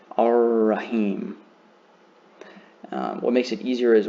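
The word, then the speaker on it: الرحيم: So if a lam is followed by a letter with a shadda above it, that's the easiest way to understand that you do not pronounce the lam either. You just pronounce the following letter, but hold it for 2 counts.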